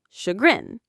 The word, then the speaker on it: chagrin: That feeling afterwards, that's chagrin. Perfect example. Now for the pronunciation. This word comes from French, so the sh sound is made with the ch. It has two syllables. Chagrin.